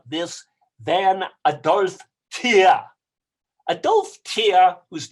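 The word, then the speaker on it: Adolphe Thiers: the forefront of this than a darth tear a dolph tear whose name is spelled t h i e r s is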